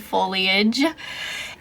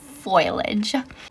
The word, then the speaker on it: foliage: has watched that show how she mispronounces it it just I just hear that in my head every time I see the word foliage and and uh she says foilage also I love foliage